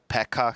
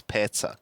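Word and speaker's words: Petsa: not have a choice can you please stop calling that guy Pekka he's not Pekka he's petza petza pets i' been trying to tell every try like P TSA that's how you pronounce it there you go pets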